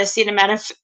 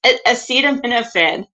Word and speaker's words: acetaminophen: say he was trying to say the word acetaminophen acetaminophen like tylenol and um he was saying it